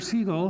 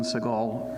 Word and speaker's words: Siegel: to baldomero and to everyone who pronounces my name correctly I'm not Steven Seagal and so let's make sure we correct that error um my thanks for